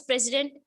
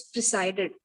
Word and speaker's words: presided: Assistant Vice President, HR and Location Head of Tech Mahindra, Visakhapatnam, K.